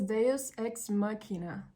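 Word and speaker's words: deus ex machina: calls it as the deos X mchina okay I've looked at the pronunciation and it says deos X makina which means an unexpected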